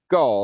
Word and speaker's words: GOL: They're pronounced G. Gaul, that's correct.